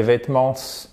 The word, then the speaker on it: vêtements: Pourquoi je dis pas les vêtements?